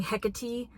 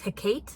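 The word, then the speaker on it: Hecate: one she does is instead of saying hecy she says heate which is like also very strange Corey I can kind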